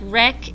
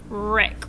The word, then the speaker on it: wreck: So look at words like wreck and right and wrist. What letter is silent? What don't we hear? That's right, W. You don't hear the W. You hear the R sound, right, wreck, wrist.